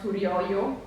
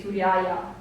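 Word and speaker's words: ܣܘܪܝܝܐ: Syrians, so the word Surioyo would have been pronounced like that in Western Syriac dialect, whereas Eastern Syriac would have said Suriaya, so the long A would have been retained like A.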